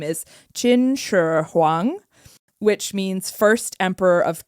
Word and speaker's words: Qin Shi Huang: to botch it, but his new name is Qin Shi Huang, which means first emperor of Qin.